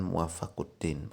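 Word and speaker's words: Muwaffaq ad-Din: Kalau muwafiqnya kan berarti yang menunjukkan ke agama Islamnya ya, tetapi memang sebagian ulama menguatkan muwaffaquddin, begitu bacanya.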